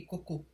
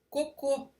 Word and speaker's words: cocô: Cocô, as fezes, é uma oxítona terminada em o fechado, por isso leva acento circunflexo, assim como em vovô.